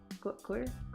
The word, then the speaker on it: choir: Choir? How do you pronounce that? It's choir.